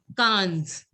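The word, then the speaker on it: quinze: Now try to see the similarity. Like 5 there was in 5 it was CINQ. So IN was pronounced as sang. The same thing in sang. The sound of IN was sang. That's why we pronounced it as sang.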